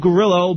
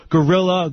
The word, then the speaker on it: Grillo: And uh for those of you who don't know me, my name is Gerillo, but uh my name my last name has been bastardized over the years to Gorilla.